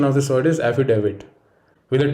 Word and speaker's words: affidavit: next word is affidavit no it is not affidavit rather the correct pronunciation of this word is affidavit with a d not a d the next